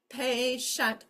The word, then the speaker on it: patient: Again, the TI is a digraph. It says shh. We learned this way back at the beginning of this book. Okay, this is not actually split. That goes right there. Patient, only 2 syllables. The I is not acting like a vowel here. It's acting like part of this digraph. The T and the I go together. They make one sound now, which is shh.